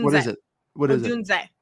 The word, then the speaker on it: Odunze: Odunze. What is it? Odunze, not Odunze.